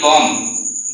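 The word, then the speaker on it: bomb: এই জায়গাতে আমি বম, বি ও এম বম, বি কে সাইলেন্ট রেখেছি।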